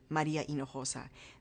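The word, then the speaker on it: Maria Hinojosa: as a public Persona I was Maria inosa that is my name that's how it was given to me that's how it's pronounced and I can't tell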